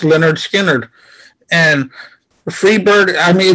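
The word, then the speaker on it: Lynyrd Skynyrd: It also ends their first song, their first album, you know, pronounced Leonard Skinner.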